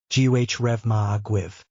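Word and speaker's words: Go raibh maith agaibh: When you are thanking more than one person, it's pronounced Gh Reva Aguiv.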